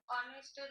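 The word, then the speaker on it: honest: হবে এন হবে এন কেন বল দেখি অনেস্টের উচ্চারণ very good very good very good যে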